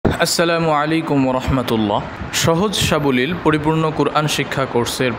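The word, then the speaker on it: ث: আলিফ, বা, তা, সা। সা উচ্চারণের সময় জিহ্বার আগা সামনের উপরের দুই দাঁতের আগার সাথে লাগবে।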